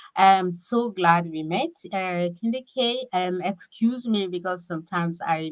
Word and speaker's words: KendyK: it's candy K all day.